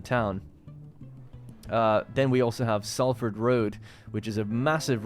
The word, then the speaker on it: Salford: But you're supposed to say it Salford, like S-U-L, but it is spelled S-A-L.